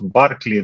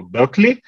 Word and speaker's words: Берклі: Є дуже багато варіантів того, яким чином правильно вимовляти його прізвище, тому що є англійська, ірландська, шотландська, американська вимова, і я чув варіанти від Барклі до Беклі. Ось тому відповідно Берклі це таке усереднене, мабуть, звучання.